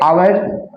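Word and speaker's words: hour: एन आवर देखिए ये आवर मैं आप लोग को फर्स्ट वीडियो में बताया था इसमें एच साइलेंट हो जाता है ठीक है एच का उच्चारण नहीं होता है हावर नहीं होता है इसका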